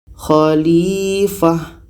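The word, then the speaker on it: خليفة: Kita baca Inni ja'ilu fil ardi khalifah. Ta marbutoh ini berubah menjadi huruf H yang berbaris mati. Jadi bacanya tidak sama.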